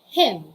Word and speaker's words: hymn: we have him and him for the second word letter n is silenced silence silent and individual letter n okay so they sound the same they are pronounced the same it is him everybody say him and